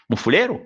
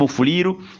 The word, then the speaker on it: Mufuliro: tirer si c'est lui qui vous appelle Mufulero. Non, ne tirez pas sur lui. Corrigez-le, dites-lui non, vous avez mal prononcé. Les Blancs, lui, a pensé le synonyme Mufuliro, il a mis les E au lieu du I.